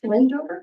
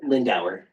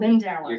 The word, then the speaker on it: Lindauer: And I can't, is it Lindover? Lindauer. You're Lindauer, good.